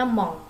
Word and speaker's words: mon: Jadi kalau mon dibacanya mong ya, mong ya. Jadi itu ada sengau di situ, eng ya.